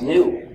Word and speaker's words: GNU: que selon le dictionnaire, le G est muet et le mot se prononce new, c'est-à-dire nouveau.